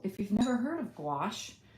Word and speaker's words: gouache: If you've never heard of gouache, you pronounce it like squash.